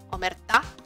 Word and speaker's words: Omertá: Omerta será, porque lleva acento en la A.